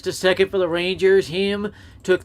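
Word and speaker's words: Heim: So Jonah Him cheats his way on base. Formerly with the Yankees. And it second is round him. pick by the Yankees in That's why they pronounce it with the 2016.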